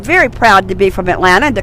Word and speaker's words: Atlanta: to notice too that I did not pronounce that last T in Atlanta we don't do that it's called Atlanta down here and that's how we